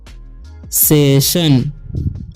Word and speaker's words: session: तो यहाँ पर भी ION आया तो इसका उच्चारण क्या हो जाएगा, तलाबे से हो जाएगा। तो इसे पढ़ेंगे हम सेशन।